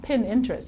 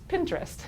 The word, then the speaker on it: Pinterest: have difficulty pronouncing that it's not pin interest it's Pinterest it's a really cool